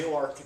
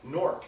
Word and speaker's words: Newark: a Newark Delaware that they call new ark yes we are referring to nework newers when you come from New Jersey you say no you you pronounce that norc and you're told very many times if you've ever been to Delaware or Newark Delaware and you say hey I'm in nor Delaware they say no sorry you're in new ark